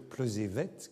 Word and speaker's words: Plozévet: Et elle me corrige même, elle me dit qu'il faut dire Plozévette, que le T final se prononce.